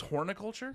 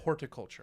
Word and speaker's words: horticulture: You thought it was horniculture? Yeah. No. Like HORN. Horticulture. Horticulture. Yes. Huh. Huh. I've been pronouncing that T and N my entire life.